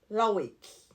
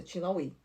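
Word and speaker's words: LaHaye: O nosso querido amigo escritor Tim Lawake, não, Tim. Como é que se pronuncia o nome dele? Tin tin lai. É isso, é lai.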